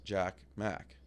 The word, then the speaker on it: Jack Mac: Jack ma does sound yeah like it's it Rhymes Jack Mac like we love I